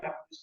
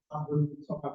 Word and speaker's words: Abdul Somad: STWJ Dharma dan disebutkan nama saya itu bukan Abdus ya, Abdul Somad Abdul ya, Abdul Somad jadi SMA karena saya ini ejaannya di dalam Jawa Barat. Ya, dan Jawa Barat itu tidak ada lam samsiahnya, jadi lamnya lamanya mas